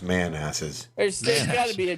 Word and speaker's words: Manassas: Pronounced Manasses.